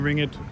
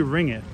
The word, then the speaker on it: ringgit: I say ring it, and somebody just pointed out in the comments to me that that's incorrect. It's like two syllables, ringgit, right? Something like that, not ringgit.